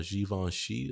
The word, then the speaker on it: Givenchy: And on today's show, we have today's video, we have more breaking news where we're talking about Givenchy or Givenchy, that's how it's pronounced.